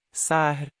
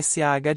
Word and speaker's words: Sah: Sar se escreve com as letras S, A e H. A letra H, tem o som de R.